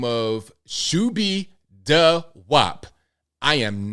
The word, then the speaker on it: Shoobiedawop: Now, John Menadeo is a failed rapper who goes by the name of Shubi Da Wop. I am not making this up. That's spelled SHOOBIEDAWOP.